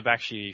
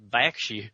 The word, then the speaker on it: Bakshi: In Texas, it's pronounced Bakshi.